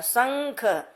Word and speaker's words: शंख: जैसे देखो शंख, क्योंकि कहा जाता है ना अनुस्वार अगर क वर्ग के किसी भी वर्ण के पहले आ रहा है तो ये क्या है? यहाँ ख है। ख के पहले इसका उच्चारण होला शंख, तो शंख ऐसे लिखते हैं।